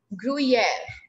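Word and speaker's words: gruyère: chamomber le gruyere then what is the pronunciation of second one group e grew e brewing air er els air gruyere yes written yes ma'am okay then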